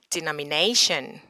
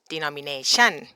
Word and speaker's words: denomination: got to remember that the stress is not at the chun, it's at the nay. So when you pronounce it, you got to say denomination. Again, you got to say denomination, not denomination.